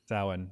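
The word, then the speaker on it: Samhain: it's spelled yeah but it's like an Irish word and it's pronounced sa saan okay so some of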